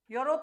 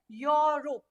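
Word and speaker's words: Europe: करेगा इसका तो इसका प्र प्रोनंसिएशन क्या है यूरोप से ही यहां पे यूरोपियन ट टूर आया तो ये जो प्रोनाउंस ये जो ये वर्ड है इसका प्रोनंसिएशन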